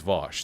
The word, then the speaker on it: Vaush: i don't know why people call me vows i don't know why it's v-a-u-s-h in in english that's always vosh that's f that's how it's pronounced like 98 percent of